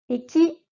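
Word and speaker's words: 駅: Il y a un E ici, mais je te rappelle, le E n'existe pas en japonais, donc il faut nous le prononcer E. Eki, eki.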